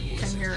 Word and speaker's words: chimera: I had to look up on Google how to pronounce it, though. Chimera. Chimera. Chimera. Chimera is what they said.